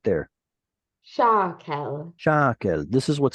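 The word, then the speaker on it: שָׁקֶל: Alafim Ba Araba Me'ot Shakel. Good. So this is the word shekel, but it gets a strange vowel under that shin. So how do you pronounce it with the stress right there? Shakel.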